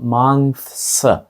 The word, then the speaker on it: months: T h, що робить звук th, потім s після неї майже зливаються. Отже, це слово звучатиме мантс. Тобто можна відчути два різні звуки, але це не дуже легко і треба трохи постаратися, щоб правильно вимовити.